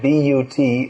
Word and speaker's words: but: As Srila Prabhupada pointed out, you'll find in English B-U-T is pronounced but, P-U-T is pronounced put.